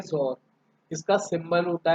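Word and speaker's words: XOR: Next operator रहेगा हमारे पास जोर ऑपरेटर, इसकी प्रोनाउंसिएशन होती है जोर।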